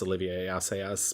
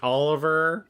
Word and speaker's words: Olivier Assayas: I'm terrible with French, and I know it's Olivier Assayas, but my brain's like Oliver.